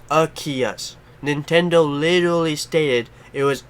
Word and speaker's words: Arceus: and whatnot and then you say like arceus or something like that rat them out just literally be like that's not how you say his name it's a kiosk just help me out